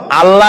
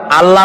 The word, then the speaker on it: আল্লাহ: কি গুণাবলীতে বিশ্বাস আল্লাহর নাম আল্লাহ বলেন তো আল্লাহ নয় কিন্তু আল্লাহ হচ্ছে অশুদ্ধ শুদ্ধ হচ্ছে আল্লাহ বলার সময় মুখটা